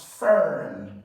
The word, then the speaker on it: fern: move to number seven this word is pronounced as Fern F so I like you to be very careful in a word like this okay if e AR comes between two consonants then you are going to produce power number 11 okay